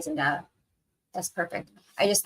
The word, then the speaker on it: Zendaya: So it is the Z sound instead of the S sound?